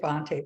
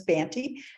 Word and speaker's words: Bonte: for anyone who's curious it sounds very aristocratic to say Bonte but the actual pronunciation is banty and I only know